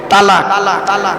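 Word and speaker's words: طلاق: একত্রিত হওয়া জমা হওয়া আমরা তলাক না বলে সব তালাক বলি আসুন এবার কোরআনের শব্দটি কোথায় আছে দেখে নিই তলাক শব্দটা কোরআনের বহু জায়গায়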